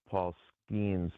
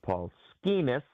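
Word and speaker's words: Skenes: I can't watch Paul Skeens because every time I watch him, I hear Tausch mispronouncing his name as Paul Skeenis, which rhymes with another word.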